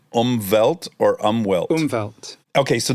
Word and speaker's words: Umwelt: pioneered this concept, this Umwelt concept. And for that, I've come to say to people, it's like Umbop, but slightly different.